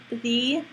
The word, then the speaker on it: the: with a bad connection you can use the word be to be a little bit more clearly understood but just be careful